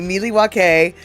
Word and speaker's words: Milwaukee: Goofull says Cooper specifically corrects the pronunciation of the city's name, stating it should be Milywake, which he claims is the Alangquan word for the good land.